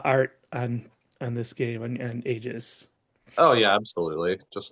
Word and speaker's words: Aegis: So is that so where you got your design for or your design ideas for Aegis from am I pronouncing that correctly? Yeah, Aegis, Aegis, Haggis, doesn't Oh, matter.